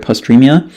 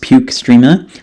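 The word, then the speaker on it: postrema: located within the area of postremia, pronounced puke strema, in the fourth ventricle, GI tract via vagus nerve and vestibular system and CNS.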